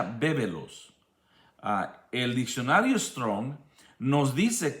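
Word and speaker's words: βέβηλος: Y es la palabra, se pronuncia bébelos.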